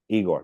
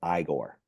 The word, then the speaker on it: Igor: Igor, no, it's pronounced Igor, or or wasn't your hump on the other?